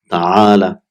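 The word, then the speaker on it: تعال: So it will be ta'ala. So it's normally it is ta'ala, but it is pronounced as ta'al, because normally when we end the sentence we put a sukoon, but it's originally it is ta'ala.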